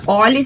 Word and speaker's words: Olhi: E também é Oli, se escreve O-L-H-I.